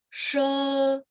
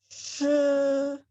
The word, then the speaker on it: 是: She. 是 Ya, jadi baca si E-nya dipanjangin aja nggak apa-apa, Bu.